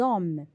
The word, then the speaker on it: hommes: Exemple, l'homme au singulier, au pluriel je dis les hommes. Là, nous sommes en présence d'un H muet. On fait donc la liaison.